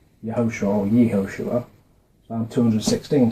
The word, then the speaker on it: Yehoshua: And it's vowel pointed like this, which is usually pronounced Yehoshua or Yehoshua.